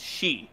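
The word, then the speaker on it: sidhe: on rules alert that the 12th is she s-i-d-h-e sometimes spelled s-i-t-h but then it looks like your ancestry is sith uh from star wars which is not what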